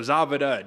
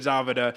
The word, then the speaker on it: Zawada: I just found out that's how you pronounce the German names. The W's or V's. So Zawada, David Zawada, Saget.